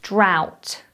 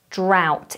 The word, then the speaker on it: drought: uk next we have drought drought it's a very odd spelling so listen to the pronunciation ow drought drought a drought is a